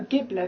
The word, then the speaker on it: Ghibli: Returns, like from Studio Ghibli. No, Ghibli, because it's spelled with an H.